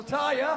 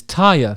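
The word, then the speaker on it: Týr: song from the beautiful tire oh i've been pronouncing it wrong it's tire sorry might excuse me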